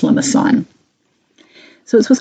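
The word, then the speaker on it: limaçon: little tail on it that's French and it's a soft C so it's not limicon it's pronounced lamason so this was called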